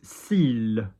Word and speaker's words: cils: Next one, very common word in French beauty products, CILS. CILS. Now, I know I've just told you that you don't pronounce S's at the end of words. You will pronounce an I and an L.